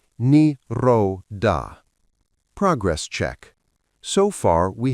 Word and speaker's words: Nirodha: Pronounced Nirodha.